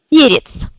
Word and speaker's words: перец: Перец. Перец. Vous voyez que c'est pie qui est accentué. Donc la deuxième syllabe devient i. Перец.